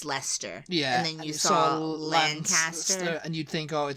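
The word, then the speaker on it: Leicester: close together is you know it's like or Lester you know but it's Lancaster yeah yeah so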